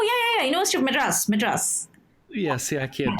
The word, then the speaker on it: Madras: and I don't know this university university of modus is that is that how you pronounce it oh oh yeah yeah yeah un of Madras madas yeah see I can't that's I did